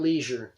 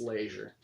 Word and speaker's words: Laisure: that's how I have my last name as laisure not leisure the way that it's spelled and how everybody says it it's laisure so he signed my birth